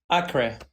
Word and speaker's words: Akre: So I might pronounce it incorrectly, but you were born in, is it Acre? Acre in Kurdistan? Akre.